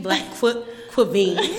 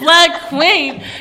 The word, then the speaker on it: BLCKQVEN: pronounced your Instagram name Black Quavine. Yo, it's not Black Quavine. Okay, y'all. I'm sorry. Let me change my Instagram name then, cause it's not Black Quavine. It's Black Queen.